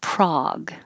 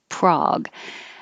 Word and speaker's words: Prague: And we use the same vowel in Prague. Prague.